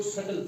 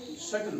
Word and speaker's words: subtle: अब ये है SUBTLE, यहाँ भी ये साइलेंट है बी डी से पहले। हमने बी को नहीं पढ़ना है बल्कि इसको सटल पढ़ना है। क्या पढ़ना है? सटल पढ़ना है।